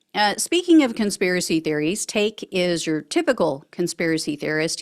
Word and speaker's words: Taake: custody no I don't take responsibility at all hey everyone welcome to the show a 35-year-old Texas resident Andrew take I think is how you pronounce it it's ta a k he is another accused